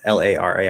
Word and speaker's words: Lara: laura well i guess l-a-r-a i would say lara but i can also pronounce l-a-u-r-a-lara lauren right some people might say